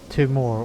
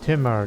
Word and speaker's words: Timur: a variation of uh timur or timmer depending on your pronunciation of that very famous turkic name i